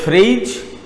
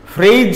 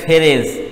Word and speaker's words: phrase: তোমরা লক্ষ্য করো, ফ্রেজ কিন্তু উচ্চারণটা ফ্রেজ, উচ্চারণে অনেক সময় স্টুডেন্টসরা ভুল করে, মানে আমরাও যে করতাম না তা না, কারণ আমরা তো স্টুডেন্ট ছিলাম, আমরা উচ্চারণ করতাম। এখন অনেক স্টুডেন্টস করে উচ্চারণ ফ্যারেজ, ফ্যারেজ, ফেরেজ, আসলে ফ্রেজ। Correct pronunciation is like this, phrase.